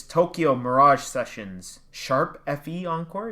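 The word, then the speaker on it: Tokyo Mirage Sessions ♯FE Encore: It's Tokyo Mirage Sessions Sharp FE Encore. Is that how it's pronounced?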